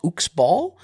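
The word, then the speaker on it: Uxbal: on Javier bardam's character I believe it's pronounced ukball uh it's uxb l um so I don't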